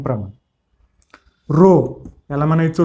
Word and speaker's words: rho: रो याला म्हणायचं रो, RHO. रो RHO असं स्पेलिंग आहे, RHO.